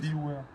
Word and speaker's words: Philouwer: Phil Ouvert, comment tu prononces? Philware, Phil Ouvert.